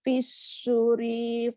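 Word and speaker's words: في الصور: Yauma Yauma yunfahu fis-suri fata'tunas afwaja. ya. Fis-suri, sunya ada wawu panjang.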